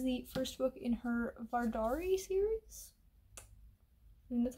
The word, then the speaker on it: Vardari: Year this is the first book in her vardari series and that's how it's pronounced v-a-r-d-a-r-i um yeah it takes place in